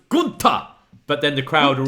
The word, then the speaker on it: Gunther: Bartel, and Gunther, and he goes, "Nein, it's pronounced Gunther," but then the crowd are all just going, "Walter."